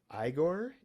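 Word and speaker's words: Igorrr: Uh I've read too much Terry Patchet so I always pronounce this character name wrong. So Igore Igor with three Rs.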